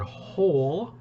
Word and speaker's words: whole: the middle i believe the word whole which is like a question word it has a silent w but there it is w h o l e whole number three a pause